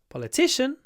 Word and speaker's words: politician: interested in politics politics but when we say politician the stress is on the third syllable uh she's a popular